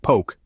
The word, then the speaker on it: poke: poke in the bowl if you've been saying poke is in joke you've been doing it all wrong the correct pronunciation is poke isn't okay a funny little anecdote to remember